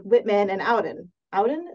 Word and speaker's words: Auden: Auden, is that how you say it? Auden. I'm not sure. Auden? Yep.